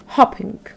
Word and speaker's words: hopping: from the verb hope the second one is hopping with the short vowel sound so the first one